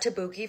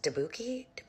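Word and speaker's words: tteokbokki: I got Tabuki for the first time. I think it's actually pronounced Dabuki.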